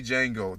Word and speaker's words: Django: I like my porn, like I like the movie Django. The D is silent.